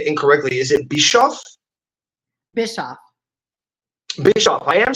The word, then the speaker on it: Bischoff: Bischoff.